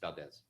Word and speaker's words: Valdez: Valdez, is it Valdez? It's Valdez. Pronounced Valdez. Yes.